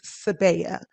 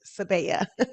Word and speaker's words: Sebiya: a spin on it it's sebea i believe i made that up actually i really did make up how to pronounce it but i'm just going to stick with it sebaya yeah okay it means